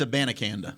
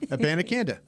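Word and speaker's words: Abanikanda: ends up it's right isn't it no it's a banakanda a band akanda yeah let's just go right back to last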